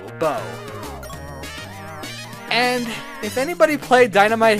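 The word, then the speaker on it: Beau: it's bow it's prince it's spelled b-e-a-u bow and if anybody played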